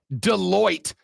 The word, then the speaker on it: Deloitte: Now, there may be some 100,000-aires on your team, but this to me, assuming, Texter said, Rob, it's pronounced Deloitte.